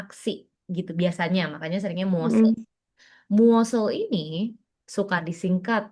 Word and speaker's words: 무엇을: Kalau dibacanya sesuai dengan aturan itu berarti bacanya gini dong, muosel.